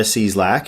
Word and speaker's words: Cieslak: the general art of crushing it Marta Marta seeslack am I pronouncing your last name properly yes yep okay